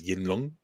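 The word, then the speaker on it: Yinglong: the dragon's name again Ying long the G the G would be quiet so you'd pronounce it as yinong so Yin L would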